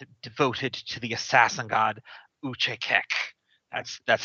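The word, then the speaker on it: Achaekek: A monastic assassin order devoted to the assassin god Uchekek. That's how the pronunciation guide says to pronounce it right here on the wiki.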